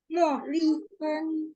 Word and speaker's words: 茉莉芬: 茉莉芬， Oh, Madiun ya, Molifen, Mo. Jadi MO bacanya dia agak ada U ya, MUO.